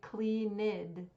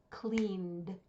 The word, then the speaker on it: cleaned: not have two syllables do not say cleid that's incorrect if you are saying that past tense verb correctly it should only have one syllable cleaned cleaned so the only thing